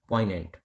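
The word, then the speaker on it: poignant: इसकी प्रोनाउंसिएशन में जो जी होता है यह साइलेंट होता है। इसलिए इसको क्या बोलते हैं? पेंट।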